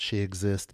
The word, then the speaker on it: Shexist: And remember, if you were confused about how to pronounce She Exist, it is spelled S H E X I S T.